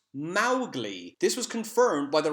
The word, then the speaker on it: Mowgli: and finally Moshi would mispronounce Mowgli's name it's pronounced Mowgli this was confirmed by the writers daughter Elsie